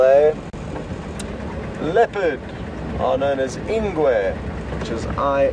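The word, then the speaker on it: ingwe: g a l a leopard are known as ingu which is i n gwe cheetah would be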